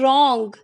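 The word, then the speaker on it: wrong: Next है रॉन्ग, र की sound आ रही है, डब्ल्यू की नहीं आ रही है।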